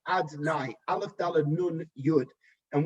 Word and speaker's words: Adonai: That level of Yud Kei Vav Kei, right now we do not pronounce that name as it is written. Instead, we pronounce it as Adonai, Aleph Dalad Nun Yud.